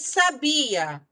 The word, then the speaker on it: sabia: E sabia. Sabia, a sílaba tônica é a segunda.